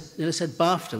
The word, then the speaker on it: BAFTA: I said BAFTA, which rhymes with dafta.